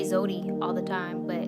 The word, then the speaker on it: Zewdy: Oh, well, you know, Zewdy is fine for me, but I do appreciate that sentiment. My name is Zewdy. It's like Zoe. Not Zoe, but Zoe. I mean, I used to say Zewdy all the time, but